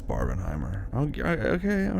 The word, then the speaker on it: Barbenheimer: figure that out again they want to recreate barberheimer so badly I know I know I said it right for you you win yeah it's Barb and Heimer okay okay all right are you happy now